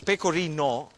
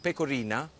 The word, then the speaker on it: pecorino: Just be careful the way you pronounce it, because pecorino with an O is the cheese. If you put an A at the end and you call it pecorina, that means get closer.